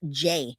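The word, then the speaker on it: Jai: It's J A I. And it's pronounced J.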